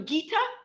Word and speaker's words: Gita: And are you Gita? Yeah. Great. I just want to be sure I'm pronouncing your name right. Okay, go for it, Gita.